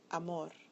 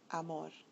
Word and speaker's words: amor: The following words follow rule number 2. So listen carefully. Español, regular, mayor, amor. When you listen to them, you'll find that the bolded syllable is the one that receives the stress.